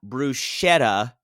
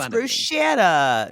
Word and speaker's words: bruschetta: Eternal it's the Eternal debate of it's not bruschetta it's this is gonna this is gonna humiliate